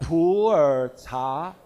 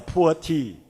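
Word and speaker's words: 普洱: In typical Chinese pronunciation, Mandarin pronunciation, it's called Pu'er cha, Pu'er tea. But with your typical intonation, it may become a poor tea. So I suggested to the company, don't say Pu'er tea. It will sound like a poor tea. So say it like a pure tea.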